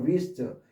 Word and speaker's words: wrist: 발음이 안 되는 wrist, 이런 wrench, wrangle 이런 식으로 발음이 안 되는 거예요.